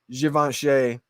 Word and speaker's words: Givenchy: And not only just any Givenchy, because that's the correct way to say it, but I like to say Givenchy.